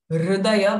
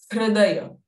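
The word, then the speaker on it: हृदय: So it is not actually rudaya, but it is hrudaya.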